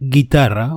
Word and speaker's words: guitarra: For those two sounds, you have to add a u in the middle of the ge and the vowel, as in guerra, which means war, and guitarra, which means, of course, guitar.